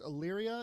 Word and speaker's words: Illyria: king of mispronouncing books i assumed it's illyria is that that's correct congratulations i just gave